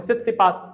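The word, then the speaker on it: Tsitsipas: ये रहे, ये देखो सित्सिपास, ये स्पेलिंग टी साइलेंट है इसमें ध्यान रखना, सित्सिपास, आपको टी छोड़ देना है हर बार, सित्सिपास,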